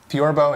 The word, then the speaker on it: theorbo: what is this thing torbo in English torba or kerone in